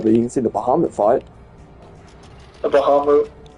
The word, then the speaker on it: Bahamut: you can see the Bahamut fight. a Bahamu. It's pronounced the same way in every game.